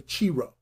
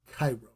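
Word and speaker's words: Chi-Rho: Furthermore, XPI is referred to as Cairo, which is pronounced like Cairo. Right? And of course, people will say Chiro.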